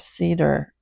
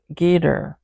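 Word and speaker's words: Geder: the king of debir one the king of Cedar oh pardon me everybody it is I who speaking not the Bible Miss mispronounce that name the K uh the king of gader one the king of horma one the king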